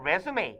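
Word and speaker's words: résumé: 그럼 아주 가끔씩 보내는 resume 얘는 이력서죠. resume라고 읽으면 돼요. 이게 불어라서.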